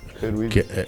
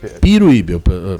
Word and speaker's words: Peruíbe: Gostei da sua pronúncia. Peruíbe. Não, Peruíbe. Peruíbe, é o correto? Não. Peruíbe. É Peruíbe, Jair Messias Bolsonaro 21, Lula 15, 16 mil Lula, né?